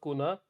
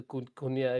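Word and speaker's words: Cunha: Oh, I was thrown off by your correct pronunciation of Kuna, because everyone seems to think that every single Latin name has the nya, the kunya. Everyone Yeah. says kunya, and it's just so frustrating.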